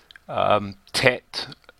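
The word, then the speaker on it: ט: It makes a T sound, tet.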